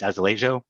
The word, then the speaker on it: azulejo: As I was saying, my understanding is that, and I'm probably not pronouncing that correctly, David. If it's bad enough, please jump in and correct me. But my understanding is that the azulejos are commonly used to chronicle histories and cultural heritages. You're pronouncing it correctly.